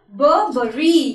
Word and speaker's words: Burberry: The right way to pronounce this word, which is very beautiful, Burberry. Yeah, the way is, actually I am having the perfume of Burberry.